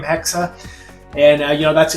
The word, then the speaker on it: Hexe: if you want to pronounce it, you would pronounce it in a h e k- sa hexa, which is a German word for witch.